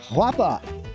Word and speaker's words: Guapa: Up here in Gaillardia, this is a new collection called Guapa. Did I pronounce that right?